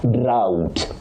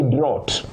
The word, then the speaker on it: drought: Now, the second word, you say drought, drought. Don't say drot, drot.